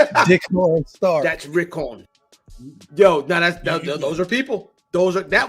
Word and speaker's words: Rickon: Recon. Yeah, he should, or he could be the dragon. That's true. The dragon. Yeah. Recon and decon is crazy. No, that's not how it's pronounced. Dickon Stark. That's Rickon.